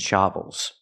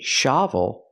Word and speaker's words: shovels: say buckets and shovels the word is pronounced shovels so it's a difference if I say shavel that's the open a sound like hot and stop I need the closed uhuh sound like cup and up it's more closed shsh shovels we hear